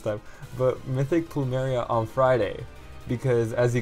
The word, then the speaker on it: Plumeria: gonna be summoning for mythic plumeria i think that's how you say her name i thought it was plumera for the longest time but mythic plumeria on friday because as